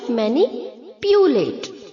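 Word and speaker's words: manipulate: यहाँ पर भी सेम म्यूटिलेट की तरह हम पी के आगे जो यू है उसे हम वाई डबल ओ की तरह प्रोनाउंस करेंगे।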